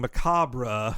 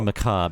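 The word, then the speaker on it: macabre: uh I just got that uh that's B mispronouncing macabra with macab it's actually maab Henry oh man here I am I'm [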